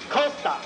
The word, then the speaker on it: Costa: Costa now he made sure that I could pronounce his name right he made sure Costa I have to say it just like that